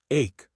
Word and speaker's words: ache: Ache, pronounced like cake, usually refers to a continuous, dull pain that isn't too strong but doesn't stop, like a headache, stomachache, or backache.